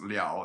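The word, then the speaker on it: 了: han is very liable this is la but in this is sometimes pronounced liao in this phrase it is uh it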